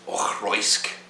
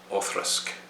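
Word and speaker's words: Auchroisk: both are acceptable six it's not ochroisk it's off-risk or thrusk that means shallow forward across the red stream or thrusk and actually the one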